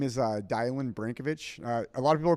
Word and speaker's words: Dylan: my name is uh DIY banovich a lot of people call me I think my name is Dylan it's spelled you know d y l but it's pronounced di um my last name